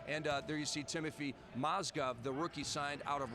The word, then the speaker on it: Mozgov: And then the big kid that they just brought in, Mosef, I think is how you pronounce it. Mozgov.